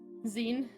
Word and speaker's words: Zin: Zen.